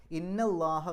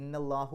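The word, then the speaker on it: إِنَّ اللَّهَ: ഇന്നല്ലാഹു എന്ന് പറയില്ല, ഇന്നല്ലാഹ എന്നാ പറയുക. നെസ്ബിൻ്റെ അടയാളമായിട്ടാണ് അവിടെ ഫത്ത് കൊടുക്കുന്നത്, ഇന്നല്ലാഹ. ഗഫൂറുൻ അത് ഖബറാണ്, ഇന്നയുടെ ഖബറാണ്. ഇന്നയുടെ ഖബറിന് എപ്പോഴും റഫ് ആയിരിക്കും, റഫിൻ്റെ അടയാളമായിട്ടാണ് അവിടെ ലമ്മു തൻവീന് കൊടുത്തത്. അപ്പോൾ ഇന്നല്ലാഹ ഗഫൂറുൻ എന്നാണ് പറയാം.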